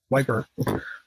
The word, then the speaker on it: Ypres: newspaper in in but the British call it wiper because it that's how it's spelled it's y PES wiper um the wiper times